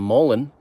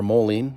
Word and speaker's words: mullein: I'm gonna go see if we can find some mullein or mullein, depending on how you pronounce it, and maybe make some of this and some mullein in a tea tonight.